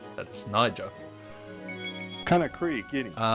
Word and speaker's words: Niger: And yeah, make sure you pronounce this correctly. That is Niger getting uh Okay.